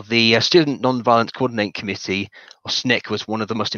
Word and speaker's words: SNCC: student non-violence coordinating committee sncc pronounced snick alabaca began her involvement